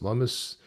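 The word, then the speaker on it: Lummis: Tim Scott and Senator Lumis Lumis rhymes with hummus.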